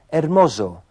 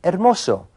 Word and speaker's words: hermoso: Walter dijo hermoso con el sonido de una Z inglesa en vez de hermoso, que es como se diría correctamente en español.